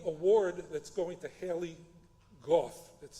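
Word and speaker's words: Gough: The award that's going to Haley Goff, that's spelled G O U G. I have to be told it's pronounced goth because you can pronounce o u gh g about six different ways.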